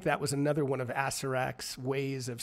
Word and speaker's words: Acererak: By the way, it's Acererak.